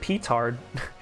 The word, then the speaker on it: petard: The e and petard is pronounced like e and the d is silent since it comes from the French.